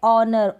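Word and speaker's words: honour: Next rule क्या है, शुरू में HI, शुरू में H आएगा तो H साइलेंट रहेगा। जैसे कि यहाँ पर है ऑनर, O से शुरुआत हो रही है, R, यहाँ पर O से शुरुआत हो रही है, ऑनेस्ट, O से शुरुआत हो रही है। तीनों स्पेलिंग्स में क्या है, H साइलेंट है और H के बाद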